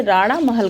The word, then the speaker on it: राणा महल: हाँ, तो हम दोस्तों ये सॉरी मैं प्रोनाउंसिएशन गलत कर रही थी, ये राणा महल घाट है।